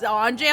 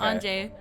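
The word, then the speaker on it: Ange: the girl was Anjay. I'm like, yes. No, that's how you say it, right? Yes, that's how Just you for say the it. record? Okay. Anjay.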